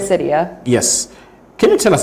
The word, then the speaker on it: Gliricidia: Now, Komako is known for farming with, I don't know how best to pronounce this. Gliricidia? Is that correct? Gliricidia.